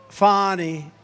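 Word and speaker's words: Fani: right has anybody fonny it's pronounced fonnie F A ni I that's Fanny but she likes it funny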